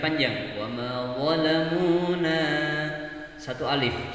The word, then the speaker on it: ظلمونا: Wa ma zalamuna walakin kanu. Ya, padahal yang benar adalah dibaca panjang.